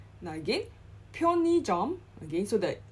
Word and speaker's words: 편의점: Now again, 편의점. Again, so the '의 in the center, in the second placing is pronounced as '이.